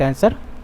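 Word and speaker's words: answer: आंसर के अंदर जो आंसर की जो स्पेलिंग होती है उसमें क्या है? साइलेंट वर्ड कौन होता है? तो उसमें साइलेंट वर्ड क्या होता है? डब्ल्यू होता है। ठीक है? किसका होता है? ए एन एस एस ई आर आंसर होता है। लेकिन इसमें बीच में डब्ल्यू होता है। उसको बोलेंगे साइलेंट वर्ड बोला जाता है।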